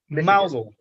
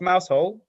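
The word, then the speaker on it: Mousehole: Wales uh or the place in Detroit um mousel mousel is the uh the settlement uh not pronounced mous hole it's pronounced mous but the definition is that's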